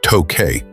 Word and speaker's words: Tokei: During the early Meiji period, the city was sometimes called Tokei, an alternative pronunciation for the same characters representing Tokyo, making it a kanji homograph. Some surviving official English documents use the spelling Tokei. However, this pronunciation is now obsolete.